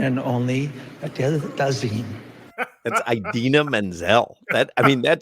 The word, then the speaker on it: Idina Menzel: please welcome the wickedly talented one and only Adele Dazeem. Please welcome the wickedly talented one and only Adele Dazeem. That's Idina Menzel.